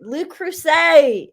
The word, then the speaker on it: Le Creuset: Le Creuset.